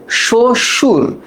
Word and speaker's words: শ্বশুর: বাট আমি যদি একটু এই জায়গায় তাকাই, শ্বশুর, শ্বশুর, দেখো এইখানে কিন্তু বফলা কোনো প্রভাব বিস্তার করতে পারেনি। শো, তারপর হলো সুর।